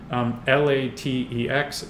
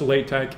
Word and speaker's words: LaTeX: so that bit of software is called latex l-a-t-e-x it's pronounced latex it looks like latex and that is sort